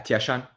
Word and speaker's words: Tieshun: Am I pronouncing this right? Yeah, Tieshun. Tieshan.